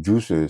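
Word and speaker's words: Guiice: Il y a une artiste féminine le Juice, ça s'écrit G-U-I-I-C-E.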